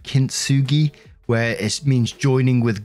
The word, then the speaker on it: kintsugi: new to me, and I'm going to have to go with the English pronunciation here of kintsugi, where it means joining